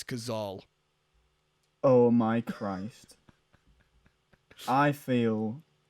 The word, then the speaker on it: Cazale: all this time what it's not kazel it's gazal oh my christ i